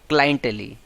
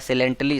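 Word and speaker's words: clientele: Regular user of place restaurant इसी, क्लाइंटली या सिलेंटली इसको भी पढ़ते हैं, क्लाइंट हम लोग पढ़ते हैं ना, तो क्लाइंट से क्लाइंटली प्रोनाउंसिएशन रख सकते हैं, लेकिन शुद्ध जो प्रोनाउंसिएशन होता है सिलेंटली इसको पढ़ते हैं।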